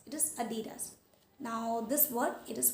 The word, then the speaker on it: Adidas: Adidas. It is Adidas. It is Adidas.